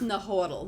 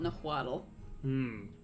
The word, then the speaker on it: Nahuatl: That was Nahuatl, not Nahuatl.